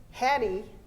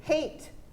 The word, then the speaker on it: hate: sound of the a we don't say hattie we say hate because that e on